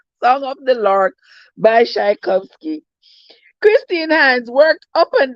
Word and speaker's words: Tchaikovsky: I can't pronounce that. That's Russian, something like that. But something, Tisakovi, Tishakovsky, Tchaikovsky.